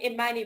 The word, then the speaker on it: Imani: forgive me and um the name imani rhymes with the word amani which means peace which i'm gonna talk about